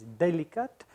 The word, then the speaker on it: Délicate: There's a little accent on the E to make it sound a little bit more French. It's Délicate. And it is delicate indeed